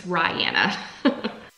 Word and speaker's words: Rihanna: Ah, she tells me how to say her name in the letter. I should have read this first. It's Rihanna.